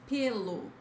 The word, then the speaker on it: pelo: The word here is pelo, pelo. The meaning is hair, fur, P. Okay, close, guys, close. Don't say pelo.